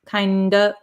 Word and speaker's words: kind of: kind of kind of the f which is a v sound disappears and we're left with this o vowel so kind of kind of kinda kinda and we get